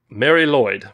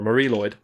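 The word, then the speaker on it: Mari Lwyd: gonna be amazing the welsh christmas tradition of mary lloyd that's how it's pronounced or marie lloyd apparently you'll get a knock at the door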